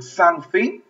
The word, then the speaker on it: something: Como mordiendo la lengua. La T es como la pronunciación.